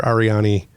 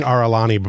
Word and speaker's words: Arani: Officer Mayor, and Commander Arani Ambrose. It's like Oren with an I after it. Gotcha. Yeah, I kept saying Aralani before, so I'm trying not to say that now.